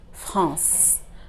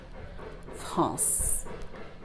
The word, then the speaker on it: France: Not français, not français, not français. Why? Because the E at the end is silent. So what we're really reading is the C, the letter C that is before it. France.